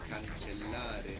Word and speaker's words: cancellare: And also there's two L's in this verb. Cancellare. Cancellare. Good, and we want to pronounce both of those L's. It might feel like a little bit of a pause actually.